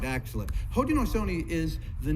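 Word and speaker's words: Haudenosaunee: us in our own languages we call ourselves ho Dino Sony ho Dino Sony have you all heard that word before all right actually ho Dino Sony is the name that we were given a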